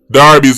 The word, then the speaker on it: Derby: e r b y Jamaican said Derby but when the football club a Darby me say so that means pronounce Darby dose you want to know